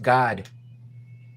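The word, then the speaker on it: Gad: one of the It's pronounced God.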